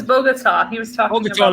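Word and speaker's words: Bogotá: that it's pronounced bogada it was bogota was talking about like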